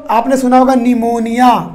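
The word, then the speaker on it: pneumonia: और अगर मैं बात करूँ बेटा और नेक्स्ट बीमारी की, तो आपने सुना होगा निमोनिया, पी से लिखते हैं ना निमोनिया, स्पेलिंग चेक कर लेना भाई, हो सकता है अगर गलत हो तो।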